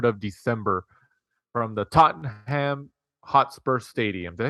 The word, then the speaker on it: Tottenham: past Saturday the 3 of December from the Tottenham hot spur Stadium did I say that right